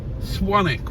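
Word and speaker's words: Swanwick: it's lovely at night swanic with a silent W well actually well yeah it has got a silent W but it's got another W that isn't silent silent oh it's going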